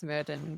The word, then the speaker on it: Smerdon: But it is pronounced Smerdon. There is no A in Smerdon.